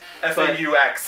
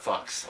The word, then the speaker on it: faux: F-A-U-X is pronounced faux. Yes, faux, not fox.